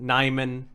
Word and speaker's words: NymN: with NymN is that some people get confused on how to pronounce it. NymN. And some people, because I capitalized the second N just because I think it looks good, some people think maybe I don't read it out.